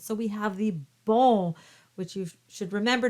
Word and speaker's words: bon: lot of the sounds so we have the ball which you should remember not to pronounce the n and of course we have